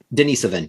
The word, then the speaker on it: Denisovan: Wait, but we do have Denisovan. How do you pronounce that? Denisovan, yes.